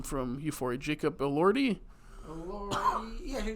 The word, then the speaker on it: Jacob Elordi: Jacob Elordi? Yeah, Jacob Elordi.